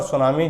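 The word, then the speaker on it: tsunami: इसमें टी हमेशा साइलेंट रहता है, जापानी लोग टी को हमेशा खा जाते हैं।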